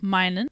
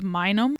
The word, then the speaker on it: Minun: to another Pokemon assessment now today we have Mining and I always pronounce that name wrong I know this is very silly but I could have sworn his name was minum like it ended with an M instead of